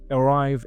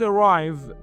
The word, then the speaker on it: arrive: The word arrive, as you see on the slide, is started with shua. Look at the phonetics. It is 2 syllables and the stress is on the second syllable. Arrive. Arrive. The first vowel is called shua. Shua. It is a very weak e.